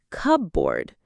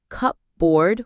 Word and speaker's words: cupboard: Number 8, cupboard. We don't say cupboard with 2 words, it's cupboard.